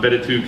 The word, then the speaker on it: b2: platform called B2 Cafe log or how he pronounced it um betu Cafe log cuz he was French um which